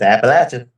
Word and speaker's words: Appalachian: They were talking about that area and they were like, "Yeah, the right way to say it is throw an apple at you." Yep. Yep. It's Appalachin.